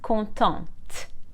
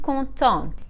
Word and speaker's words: contente: masculine like conto and content happy as you can hear just like for nouns the consonant is silent at the end of the masculine but we pronounce it for the feminine conto and conton if the masculine ends